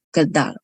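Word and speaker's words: Kjeldahl: Kaldal tulisannya seperti ini. KJLDAHL Kaldal bacanya ya.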